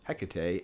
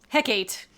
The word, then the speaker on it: Hecate: Hecate. That's what I thought it always was. Nope, it's Hecate.